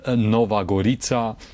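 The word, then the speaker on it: Nova Gorica: the uh Italian border I'm talking about goria the Italian pronunciation and Nova gorita the Slovenian pronunciation and um I saw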